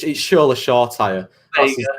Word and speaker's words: Shoretire: Is it Shortine? Well, actually, he's pronounced Shoretire, but I'm not having any of that because he's English. It's Shola Shortire.